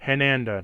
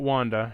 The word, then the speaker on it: Hananda: Hananda, not Wanda. Hananda.